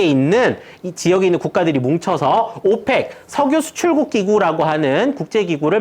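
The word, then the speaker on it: OPEC: 지역에 있는 국가들이 뭉쳐서 오팩 석유 수출국 기구라고 하는 국제기구를 만들었습니다 자 오팩이라고 읽습니다 석유 수출국기고 1960년대 이후에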